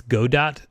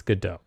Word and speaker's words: Godot: The people who make it, they say it's Godot, but they are wrong. It's Godot. Like Gall. Like what?